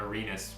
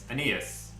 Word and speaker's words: Aeneas: And then again, I think Arenas Williams is the move for me. I've probably been saying this guy's name wrong. Aeneas.